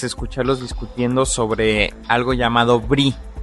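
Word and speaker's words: Brix: discutiendo sobre algo llamado brie y no están hablando de quesos. Este brie se escribe B-R-I-X y es un sistema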